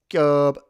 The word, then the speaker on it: Kyōob: Kyōob. How do you pronounce an O with a line over it? I know how it works in Te Reo Maori. Yeah, long O sound.